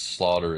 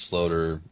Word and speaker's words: Sloter: No, you know what's crazy is like I don't even I mean, my whole life it's uh, it's Slaughter. It's Slater. It doesn't doesn't matter to me.